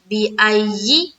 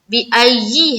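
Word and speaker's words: بِأَيِّ: किस तरह से, देखिए बा जेर बी, हमजा या ज़बर आई, या जेर यी, बिअय्यि। अब देखिए बिल्कुल वाज़े हो गया, क्या है, बिअय्यि है, बिअय्यि, या जेर यी, बिअय्यि, ठीक है।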